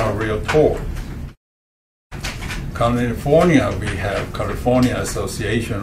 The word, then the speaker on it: Realtor: It pronounced as Realtor, not Realtor. Okay, they will tell you Realtor.